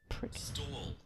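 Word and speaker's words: Stawell: Stall Victoria. Stall. Well, spell it right.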